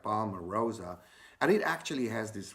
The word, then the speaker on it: palmarosa: palm rosa you know the name actually rhymes with rose right palmer rosa and it actually has